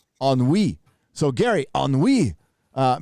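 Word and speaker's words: ennui: gary he knew an enu is a french word pronounced oh on we so gary on we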